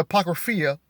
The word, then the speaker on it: Apocrypha: According to the Apocryphy, some people say the Apocrypha, however you pronounce it. According to the Apocrypha, the story of Jesus begins with his maternal grandparents, Joachim and Anna.